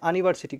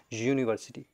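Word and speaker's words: university: এখানে আউনিভার্সিটি কিন্তু আমরা বলিনি। আউনিভার্সিটি বলিনি। কিন্তু আমরা বলেছি ইউনিভার্সিটি। ইউ উচ্চারণটা এসেছে।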